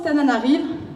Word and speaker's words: Antananarivo: proches concernant faire ça c'est antananarivo c'est le monde la capitale face prononce comme ça ça s'écrit antananarivo ça se prononce tananarive mais pour les intimes